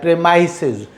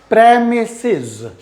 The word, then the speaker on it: premises: एक तो मैंने बहुत मतलब फ्लुएंट इंग्लिश स्पीकर को मैंने प्रेमाइसेस बोलते हुए सुना है, प्रेमाइसेस। सो इट इज़ नॉट प्रेमाइसेस, इट इज़ premises, premises, premises।